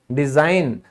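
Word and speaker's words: design: बनावट, किसी चीज का बनावट यानी डिजाइन, डिजाइन, तो यहां हमने कभी इसको डिजाइन गन बोला है? नहीं बोला। क्यों? क्योंकि साइलेंट है रूल के हिसाब से।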